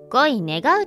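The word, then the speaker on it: 乞い願う: 関わらなくなったこれは恋願うと読みますあ青山さんに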